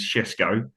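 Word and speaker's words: Šeško: Sorry, I'll pronounce that properly. It's Shesko, Well, he has but done.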